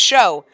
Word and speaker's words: Sho: So we'll start with Shu. Come on, it's Shu time. Oh, it's show. It is show. That's how you say it.